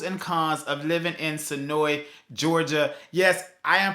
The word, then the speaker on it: Senoia: into the pros and cause of living in sonoi Georgia yes I am pronouncing it as the way is pronounced locally here at sonoy uh but it is spelled most of you would say sonoya uh or sonoa it's it's up to you um but I'm